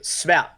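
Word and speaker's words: sværd: Svat. Svat. It's dumb. There's a silent letter in there. It's SVARD. Svat.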